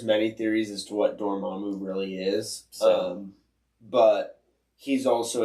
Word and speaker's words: Dormammu: Dormammu. Dormammu has something to do with Wonder Man. Your mom do.